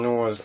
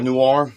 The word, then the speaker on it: Noir: dive into uh Mr Christian no's life or Noir I keep saying it wrong sorry about that you're